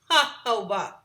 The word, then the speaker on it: jojoba: Definitely pronounced jojoba, okay?